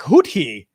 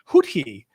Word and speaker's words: Houthi: It's pronounced Houthi.